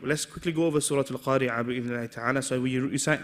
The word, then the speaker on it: القارعة: Make sure you pronounce this letter. Don't just say Al-Qari'ah. No. Al-Qari'ah.